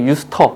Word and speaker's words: used to: 비동사가 없으면 사실은 요거 사전 찾아보셔도 괜찮은데 사전 찾아보면 used to 이렇게 나오지 않습니다. 발음 기호 살짝 use터 이렇게 나와요.